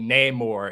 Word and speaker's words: Namor: Outsiders right so my my enemies call me Namor and he pronounced it very very anglicized then but now more is